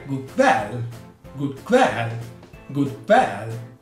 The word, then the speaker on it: kväll: Un'altra nota riguarda la pronuncia della parola kväll, la E, mi raccomando, bella aperta, good kväll.